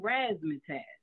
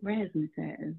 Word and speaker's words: Raszmatasz: on my name became rasmus has and i spell it r-a-s-z m-a-t-a-s-z and it's also because it's the way i pronounce it rest so like raspberry you know right right